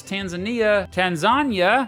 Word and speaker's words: Tanzania: Apparently, the locals pronounce Tanzania, and Americans like me mispronounce it all the time.